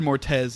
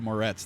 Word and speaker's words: Moretz: entire thing i said i said mortez instead of moretz the entire time and